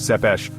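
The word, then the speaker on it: Țepeș: Tapez, pronounced Zepesh, translates directly to the impaler.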